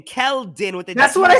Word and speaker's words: Keldon: Keldon with the. That's what I said. Kelvin Johnson. You said Kelvin.